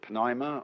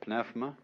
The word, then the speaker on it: pneuma: The Greek word, you may pronounce it pneuma or pneuma, is the same as spirit.